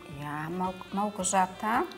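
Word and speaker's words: Małgorzata: Wie spricht man deinen Namen genau aus? Malgorzata, oder wie? Malgorzata.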